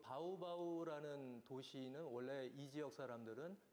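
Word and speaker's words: Baubau: 상당히 세계적으로 희귀한 말소리인데 그 예를 들어서 그 바우바우라는 도시는 원래이 지역 사람들은 바우바우 이렇게 안 하고요 바우 바우 이렇게 발음을 합니다 인도네시아 사람들이 이것을 로마자로의 적을 길이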